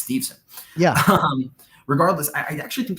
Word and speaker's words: Steveson: I'll be honest, until the broadcast said Steveson about 25 times and I was making fun of it to myself, I realized his name isn't Stevenson, it's Steveson.